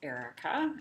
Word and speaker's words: Arika: myself first of all my name is pronounced Erica I know that it is spelled a little bit unusual and the kind of